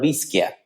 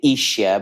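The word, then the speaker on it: Ischia: Have you ever heard about the island of Isaia? I have. I have. It's beautiful. See many people misspell it calling it isia, but it's definitely one of the most thermal islands in Italy.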